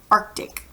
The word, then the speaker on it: Arctic: see right there so you cuz you actually pronounce it arc DIC Arctic okay and then this ocean over here on